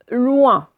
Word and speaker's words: loin: Le premier, il fallait lire loin. D'accord? On l'a lu plusieurs fois déjà. Donc, c'est la première syllabe. J'entends ouin. Hein. Je vois OIN et j'entends ouin. OK?